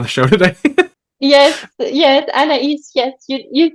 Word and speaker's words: Anaïs: I'm not going to say her name right anaise uh for coming on the show today yes yes annaise yes you you said it perfectly the first